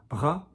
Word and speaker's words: bras: So for example, some people might say bras, soft bras, and some people would say bras. But notice, the site of future Restylane and Botox, notice that I don't go bras, I don't use muscle to achieve a consonant in French. Not like in English. It's not bras, it's bras, bras.